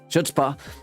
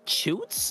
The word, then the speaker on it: Chutzpah: That is IZ Chutzpah, spelled CHUTZPAH, or Chutzpah. Yeah. With the proper pronunciation.